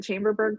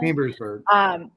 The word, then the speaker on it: Chambersburg: Is it Chamberburg, Pennsylvania? Chambersburg.